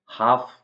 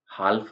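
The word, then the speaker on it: half: आता है काम शांत काल में नहीं बोलेंगे हाफ आधा हाल्फ नहीं बोलेंगे इसको टाक मतलब होता है बात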